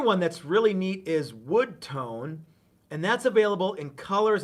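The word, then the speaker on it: Wudtone: That's Wood Tone, and it's spelled P-honetically, W-U-D-T-O-N-E, Wood Tone.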